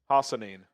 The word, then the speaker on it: Hassanin: Hassanin. Hassanin. It's actually, if you just read it how it is, that's how it is.